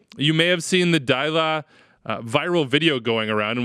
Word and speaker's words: Deila: His name, we think, is pronounced Ronny Deila. Deila.